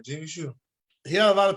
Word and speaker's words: Gene Shue: I'm sorry, Gene Shoe. He had a lot of people go pro. Not I a did lot of say it them. right. Okay, I did say it right, Gene Shoe.